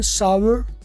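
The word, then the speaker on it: sour: आप कहोगे सर ये तो सोर लिखा हुआ है। हाँ, कहीं दुनिया सोर भी बोलती है, लेकिन प्रॉपर इसकी जो प्रोनाउंसिएशन है वो सावर है। सावर, रे बोल लो, सावर कर लो, थोड़ा सा ज़्यादा बेहतर है।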